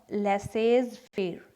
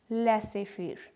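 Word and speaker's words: laissez-faire: पहला है लेसे फेर, नॉट लेसेज फेर, ये बोला जाएगा लेसे फेर।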